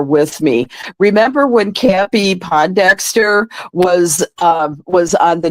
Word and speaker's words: Pondexter: you were there with me remember when campy Pondexter was um was on the New York Liberty